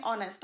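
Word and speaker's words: honest: Girl के बीच में ऑनेस्ट आएगा। और यहाँ पे एन इसलिए लगा क्योंकि यहाँ पे एच साइलेंट है और ऑनेस्ट स्टार्ट हो रहा है ओ से।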